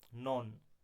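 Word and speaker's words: known: Question number 10, the silent letter in the word नॉन, नॉन शब्द में silent letter कौन है, तो वो कौन है, के, इसका सही आंसर क्या हो जाएगा, के।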